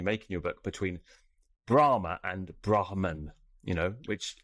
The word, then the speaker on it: Brahma: it should be pronounced there's a long a at the end with a line across the top when transliterated into english so they would be you know enunciated differently it'd be brahma the deity and brahman